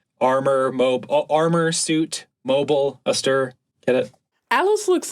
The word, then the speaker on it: Astir: Mobile Suit yeah so if you're ever in doubt of how to pronounce it it is armor AER what's an what what's